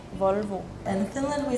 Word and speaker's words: Volvo: Because we say Volvo, and you say Volvo. You say, like, O. So you have, like, an A sound in your O's. Yeah. And ours is just very clean.